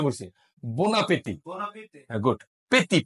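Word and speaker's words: bon appétit: বো আসলে বো কিন্তু আমি একসাথে বলছে ন উচ্চারণ করছে বোনা পেতি বোনা পেতে হ্যাঁ গুড পেতি পেতি পেতি বোনাতি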